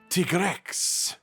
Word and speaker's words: Tigrex: out to me that tigrex is still a mix of tiger and t-rex just in another language than english such as italian or spanish and then i should try pronouncing it tigrex and yeah okay i think i'll be doing that from now on sounds about right to me his fight is essentially